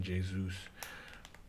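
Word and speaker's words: Jesus: for Gabrielle Jesu Jesu I'm gonna have to get used to this pronunciation Jay's ruse so yeah and then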